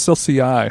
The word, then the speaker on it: Celsius: It's pronounced Celsius.